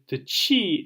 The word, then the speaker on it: chi: The chi is like ch, like the German lachen or backhand or lunkhead.